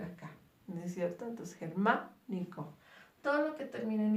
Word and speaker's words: germánico: Cuando termine en ico se vuelve una palabra esdrújula.